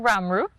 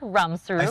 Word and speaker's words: Ramroop: It is Ramroop, not Ramsook.